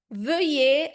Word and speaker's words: veuillez: Aqui a gente também, o EZ na posição final também é uma combinaison, tá? E aí eu já aproveito para escrever aqui. EZ na posição final, tá bom, gente? Posição final tem o som é o E. Por exemplo, o E de você, do português.